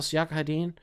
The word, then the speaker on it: Siakam: Pascal Siakam?